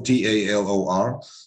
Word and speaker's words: Talor: on facebook taylor offer t-a-l-o-r i mean people uh call me talor or taylor is the same but we spell it three t-a-l-o-r that's on facebook uh